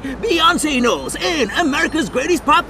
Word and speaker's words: Beyoncé: Beyoncé rhymes with fiancé.